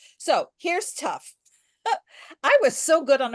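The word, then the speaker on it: תו: this letter is called tough some people call it sufff so um this letter is the last and its numerical value is 400 and it makes the same sound as the letter T which um which also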